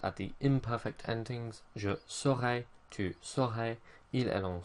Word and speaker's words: saurai: One thing I will say about this is make sure you pronounce it right. It's saurai, not serai, because of course that's the future of être. So saur, not ser.